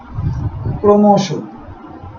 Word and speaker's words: ক্রমশ: যেমন ক্রমশ, ক্রমশ শব্দের বানান এরকম, উচ্চারণের বানান ক্রমশ। ভ্রমণ শব্দের বানান ভ রফলা, ভ রফলা, রফলা থাকার কারণে ভয়ের উচ্চারণ ভো, ভ্রো, মন।